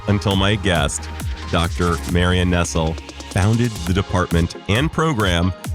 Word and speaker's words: Nestle: Nestle, yes, her name is pronounced Nestle like the verb and not like the food company and I talk about a life in food studies and food politics. Dr. Marian Nestle, who has asked me